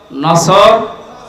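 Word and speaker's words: نصر: এজন্য তেলাওয়াত যখন করবেন সওয়াদ উচ্চারণটা মুখ গোল করা লাগে আল্লাহ পাক জানিয়েছেন যখন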